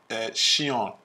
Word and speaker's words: Sean: She and on, so not like Sean Paul, but it's Sheon.